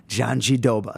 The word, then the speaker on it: Jandiroba: played the Vina Kakara Janjidoba file hundreds of times, and people still don't get it. Listen to her say it. She says, Vina Kakara Janjidoba. So that's what we go with.